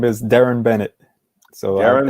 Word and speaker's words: Darren: it up name is darren bennett so aaron i usually tell people say aaron and put a d in front of it and that usually helps